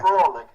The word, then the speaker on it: Froelich: Froelich, as in like frolic in the woods.